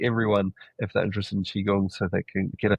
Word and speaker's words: Qigong: But the Chiong is spelled QI G.